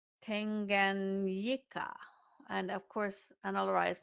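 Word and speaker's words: Tanganyika: It is not Tanzanique. It is T A N G A N Y I K A. Tanganika and of course Analia is not the best at pronunciation but that's okay.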